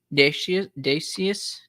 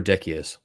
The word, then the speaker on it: Decius: The Edict of Dacius, is that the right pronunciation? Dacius? Emperor Decius. Decius.